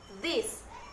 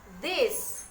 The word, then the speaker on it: this: number two yaitu this ingat ya bukan Dev tapi this jangan salah pengucapan I did Hai dis dis D bis Days